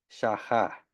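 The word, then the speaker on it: שחה: perspectiva hebrea se describe con la palabra hebrea shahá. Se los voy a poner aquí en el chat. Así se escribe y se pronuncia.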